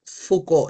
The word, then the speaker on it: Foucault: Eso se pronuncia Foucault. La o u en francés se lee u y a u o FCO.